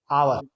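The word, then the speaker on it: hour: यहां पर देखिए एच आया है। एच कंसोनेंट है हमें पता है। लेकिन इसका उच्चारण किससे हो रहा है बच्चों? आ से। इसलिए यहां पे किसका प्रयोग किया जाएगा? एन का।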